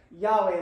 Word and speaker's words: Yahweh: Anyway, so Yahweh is how I've been pronouncing it, but we don't know.